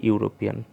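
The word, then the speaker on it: European: Indefinite article হচ্ছে এ আর অ্যান, তার মধ্যে এটা ইউরোপিয়ান, এর আগে এ হবে, কারণ এটা ইউ এর মতো উচ্চারণ হচ্ছে, ওই জন্য এর আগে এ হবে, এ ইউরোপিয়ান।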